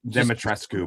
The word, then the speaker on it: Dimitrescu: Dimitrescu, by the way, is how it's pronounced.